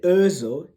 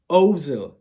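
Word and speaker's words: Özil: by the way there's there's something called an umlaut this is german so i've been learning some german so you know the reason why i say urzo it's not ozil the reason why like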